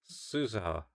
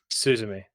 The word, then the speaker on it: Suzume: Suzuha, Suzumi, Yes, Suzu. Suzume.